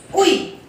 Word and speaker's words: oui: O-U-I, ui.